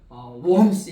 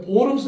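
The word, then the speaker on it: Worms: 소환을 내가지고 보름스 어 영어 영어로는 이게 워스 이렇게 하는데이 독일로 바르면은가 오비 발음 나거든요 그 보름스 의에 소환되어서 어이 얘기를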